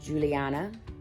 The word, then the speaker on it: Yuliana: names as well so my yuliana would be pronounced juliana and then my yes